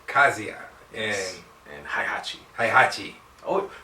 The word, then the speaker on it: Heihachi: Kazuya and Heihachi Mishima.